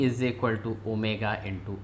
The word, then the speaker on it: omega: Angular velocity is represented by this symbol is pronounced as omega is equal to theta by t.